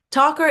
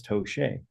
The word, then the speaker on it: Tocher: When I think 2 years ago, she finally learned that my last name is pronounced Tocher, and she thought it was Tocher.